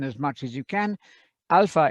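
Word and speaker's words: ἄλφα: much as you can alpha is the name of the letter and the sound of that is ah second letter is vita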